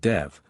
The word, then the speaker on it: Dev: hold an agricultural festival called Dev which should on no account be pronounced Dove which means burning ground a bizarre shopkeeper who